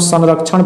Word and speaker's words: संरक्षण: अनुस्वार का उच्चारण जो है न भी होता है म होता है, तो इसको हम संरक्षण पढ़ेंगे, क्या पढ़ेंगे, संरक्षण पढ़ेंगे।